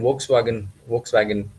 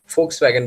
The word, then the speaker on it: Volkswagen: Volkswagen बोलना है नहीं, वो लोग Volkswagen बोलते हैं. V बोलना है, उसका F बोलना है.